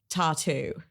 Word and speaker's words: t.A.T.u: want to talk about tattoo no I'm not mispronouncing tattoos I'm talking about tattoo the Russian pop Duo from the mid 2000s